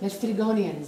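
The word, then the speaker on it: Laestrygonians: heard Gloria read about the Cyclopses and the Lestrygonians. Is that how you say it? Lestrygonians.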